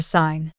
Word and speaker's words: sign: common words for example the silent G in Gnome or sign the silent p in